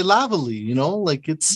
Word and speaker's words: Lavallee: I'm sure people, I was going to say Lavallee, Yes, exactly. Yeah, lots of people get it, pronounces it differently, but you did a wonderful job.